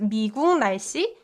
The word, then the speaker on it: 미국 날씨: It's not spelled like 미국 날씨, but still it's pronounced 미국 날씨 because of the consonant assimilation that happens between uk and n.